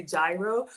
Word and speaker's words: gyro: I know some of us say gyro, but it's actually gyro, okay? It's a soft G or a silent G.